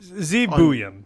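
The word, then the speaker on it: Buium: a big one how what's the official pronunciation Z boam so Z boam was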